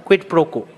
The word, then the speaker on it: quid pro quo: So I have just silenced the U because that's the rule of pronouncing vowels, especially in European languages, which are derived from Latin, and this is also Latin.